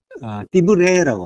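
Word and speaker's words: דִּבְרֵי: 그래서 띠브리라고 해요. 띠브레라고 합니다. 띠브레. 발음이 좀 이상한데.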